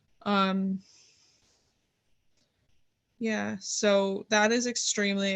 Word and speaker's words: Kotsur: Troy Kotsur. Kotsur.